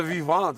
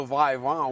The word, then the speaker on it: Vivint: I'm intimidated by the fact that you don't know how to say Vivant Arena, because that's what it's called. It's the Vivant Arena, not the Vivant, whatever you said.